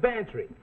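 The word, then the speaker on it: Bantreagh: and it's spelled m-a-c-l-e-o-d well this is bantry go on spell it fancy sounds like pantry i know gambler max we'll get this for free it sounds like pantry that's spelled b-a-n-t-r-e-a-g-h you lost your fin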